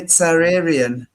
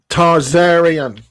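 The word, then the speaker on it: Tsarion: Tsararian. T-S-A-R. Can you see that? Spell it T-S-A-R. I-O-N. Tarzarian, like Tsar.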